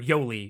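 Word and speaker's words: Yolei: Or Yoli is how they pronounce it.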